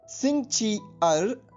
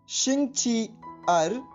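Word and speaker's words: 星期二: Spelling एक बार फिर सुनिए, XINGQIER। और इसका ध्वनिवादन सुनिए, शिंगची अर, शिंगची अर, शिंगची अर।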